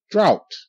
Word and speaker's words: drought: the way through good drought Al drought drought GH is silent and see this time the ouu is making it normal sound Ow like in my and